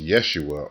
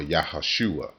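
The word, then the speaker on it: ישוע: really a Y sound, and Jesus, which is pronounced Yeshua or Yahashua.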